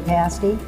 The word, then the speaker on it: pasty: We also have a breakfast pasty that we created. Pasties are pronounced pasty, like past day meal.